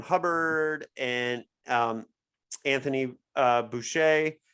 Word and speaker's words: Boucher: and um Anthony uh Boucher I'm finally saying it right I always say voucher I know it's Boucher um my entire chai life calling him Anthony voucher okay yeah I agree